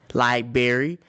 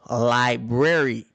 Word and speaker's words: library: constantly correct us like most people would say libr brry liberry my mom would say no Library BR b r a r y remote some people would